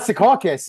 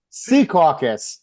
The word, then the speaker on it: Secaucus: It's not Secaucus, it's Sea Caucus.